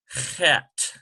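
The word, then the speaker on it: חית: We call this a chet. Notice the pronunciation, chet. And this can be confused with this one here, but it's totally closed, like this, chet. And this CH transliteration is sort of a hoarse, almost like you're coughing up phlegm of some sort.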